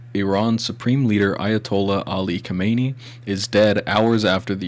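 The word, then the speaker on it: Khamenei: Ayatollah Ali Kamani. Say it like Kamani.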